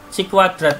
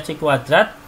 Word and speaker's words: chi-kuadrat: sampel yang dicari kemudian si kuadrat ini Ini bacanya chi-kuadrat nilai berdasarkan tabel Chi